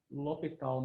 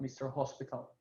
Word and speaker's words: l'Hôpital: refer to to the lital method of finding finding uh limits and by differentiation so mer Lal was French so they don't pronounce the h it's not Mr hospital um no okay so